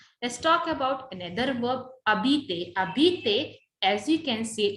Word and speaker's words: habites: So jabit, tu, abit. Es is there, but S is silent.